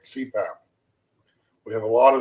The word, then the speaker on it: CPAP: of heart or cardiologist acronyms abbreviations made up of initials that can be pronounced as a word like cpath continuous positive airway pressure that's what it stands for they take the first letter of each word and make an acronym like CPAP we have a